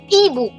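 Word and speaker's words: hibou: How would we pronounce this, considering that ash is not pronounced? Ibu.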